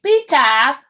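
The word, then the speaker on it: Bita: That's how you say her name. Beta.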